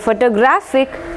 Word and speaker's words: photographic: Okay, അപ്പോൾ ഇവിടെ photograph first syllable വന്നു, ഇവിടെ photographer second syllable വന്നു, ഇവിടെ photographic third syllable.